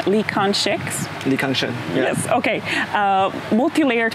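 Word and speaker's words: Lee Kang-sheng: My colleague who reviewed Stranger Eyes for Film Fest Report was really impressed with the, I'm so sorry about the pronunciation, Lee Kan-shek's?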